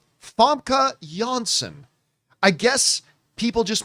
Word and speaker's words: Famke: noticeable by their absence was Jean Gray herself, Fam K. Jansen or as I've been told is properly pronounced Huskvorg Visvorg or it's actually it's Fa Jansen. Yes, Fka Jansen.